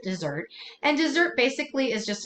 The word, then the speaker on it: desert: It is just one S. And I know that the dessert that you eat is 2 S's, but you do pronounce it dessert.